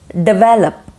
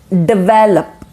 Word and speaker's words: develop: is data okay data 24 is develop develop not develop it's develop develop development okay and last